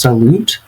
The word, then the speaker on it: salut: Now, of course, with the spelling, it does look like it might be pronounced salute, but it actually is pronounced salut. Salut. Salut.